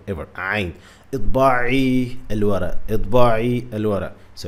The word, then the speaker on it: عين: Well, the first common mistake that Brian Wiles always makes is not pronouncing عين, the Arabic عين, well. Instead of saying عين, he say ah, which is wrong.